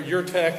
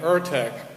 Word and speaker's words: URTeC: make sure that uh you'll hear your tech and ur tech so i guess both are right vertex phonetically right but it sounds like an action figure i i prefer your tech most of but some